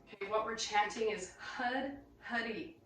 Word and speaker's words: Hud: Okay, what we're chanting is Hud, Huddy. So roll your R on Hud, or pronounce it like H-U-D.